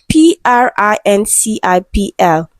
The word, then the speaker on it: principal: Okay, Stardom student called him principal with PO because he never got tired of saying the pronunciation of principal should not end with PA. It's PRINCIPL. Beppo would emphasize.